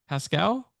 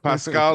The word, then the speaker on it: Pascal: he's not it's actually he's actually named after a old language programming language Pascal yes yeah absolutely Pascal Lambe yes so well